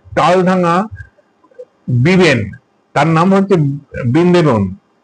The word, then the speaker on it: বৃন্দাবন: তার নাম হচ্ছে বৃন্দেবন। বিবেন বলে কেউ বৃন্দেবন বলে আসলে উচ্চারণটা হচ্ছে বৃন্দাবন।